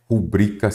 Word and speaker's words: rubrica: correta ela é rubrica Então quer dizer que ela é uma paroxítona Por que que não tem acento porque eu não acentuo as paroxítonas terminadas em a e o não acentuo então a pronúncia correta é rubrica sem acento precisa observar estão acentuadas